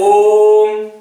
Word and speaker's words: ओम: ओम ओम कैसे ओम अगर ओम का उच्चारण हम करें ओम तीर मात्रा का समय लग रहा है इसलिए इसको हम लोग